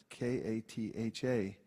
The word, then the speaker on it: Katha: I said spell it k-a-t-h-a and it reminded me of the way one of my God Brothers I told you is Katha it always sounds to me like a kind of drink and it's like it's